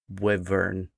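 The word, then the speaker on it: wyvern: It's a wvern.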